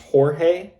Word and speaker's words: Jorge: They chose that one to make him sound more white, but it was actually pronounced Jorge, which sounds more Hispanic.